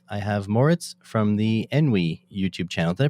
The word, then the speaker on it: Enwi: very special guest i have moritz from the enwy youtube channel did i pronounce that correct yeah envy it's it's fine hello from me i forgot